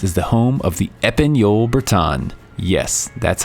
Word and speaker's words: Épagneul Breton: Trinity Bretons is the home of the Épagneul Breton.